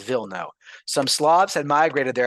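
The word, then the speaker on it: Wilno: will no or in in Polish it's actually pronounced v no some slobs had migrated there I forget when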